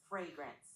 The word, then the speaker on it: fragrance: Fragrance. The emphasis is on the first part. Fragrance. So, fragrance.